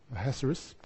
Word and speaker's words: Ahasuerus: Ahasuerus, something like that. Yeah, that's the Hebrew way he meant to say his name, but I'll stick to the anglicised version, Ahasuerus. But he had a plan.